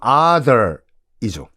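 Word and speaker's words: Arthur: 큰아들 이름이 이제 아서인데 이 아서라는 아서라가 아니라 뭐 정확한 발음은 other이죠.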